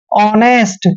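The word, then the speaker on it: honest: पढ़ते हैं owner clear जैसे ऑनेस्ट कभी भी नेस्ट नहीं पढ़ते हैं क्योंकि ओ से पहले एच आया है तो एच हमेशा साइलेंट रहेगा यहां पर इसको पढ़ेंगे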